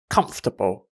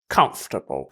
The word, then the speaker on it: comfortable: one's so so easy just skip the ore sound and you have comfortable comfortable okay okay you know